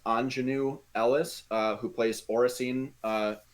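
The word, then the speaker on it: Aunjanue Ellis: at her name and i believe it's pronounced anjanu ellis uh who plays oracine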